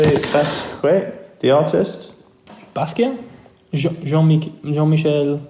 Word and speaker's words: Basquiat: Oh, Jean-Michel Basquiat. How do you say it? Basquiat, the artist. Basquiat. Jean-Michel Basquiat.